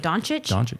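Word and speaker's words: Dončić: C is not a C. Chich. It's I don't even know what it's called. It has the thing above it. Okay. Doncic.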